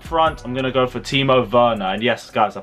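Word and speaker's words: Werner: well and up front i'm gonna go for timo verna and yes guys i pronounced it right i realized i said it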